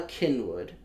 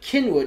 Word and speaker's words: Cynwyd: my favorite is Bala Cynwyd yes which is spelt ba la right but Kenwood is spelt Cyn Bobby eyes it's Cyn w-why D Cynwyd yep and there's also like